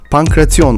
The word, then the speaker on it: pankration: Olimpiyat Oyunları arasında pankreas yan Yunanca okunuşuyla pankrasyon alındı bir spor tak